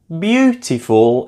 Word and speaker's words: beautiful: Beautiful is stressed on the first syllable.